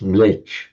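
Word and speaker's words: म्लेच्छ: Um, and it's sometimes quite amusing can slightly tease the Hindus and tease the Brahmans because Mletcha modern in modern northern India it's pronounced just millet.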